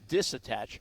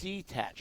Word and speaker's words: detach: Detach. I almost brought John Bachman in right now for a little dictionary lesson. I almost said disattach. Okay. It's detach. It's detach, yeah.